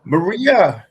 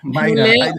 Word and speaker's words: Mayra: Everybody call me Maria. It's like It's the fancy way to say Maria.